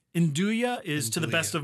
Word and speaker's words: nduja: Just think of it actually comes from the same origin word as the word we use for andouille.